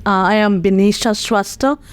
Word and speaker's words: Binisha: name uh I am bisha lots of people ask me my pronunciation so it's bisha it's pretty easy actually and then um I'm